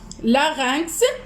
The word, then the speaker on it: larynx: Le larynx, alors X se prononce, je vais l'écrire ici.